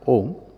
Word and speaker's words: Om: the usual description of om which is also correct we all know that that it consist of three syllables a u and M represents the simplest sound